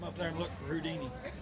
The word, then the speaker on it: Whodini: This is Whodini. Whodini. Whodini. We call him that partly because of the WHO part. We spell it W-H-O-D-I-N-I, but because of what he says,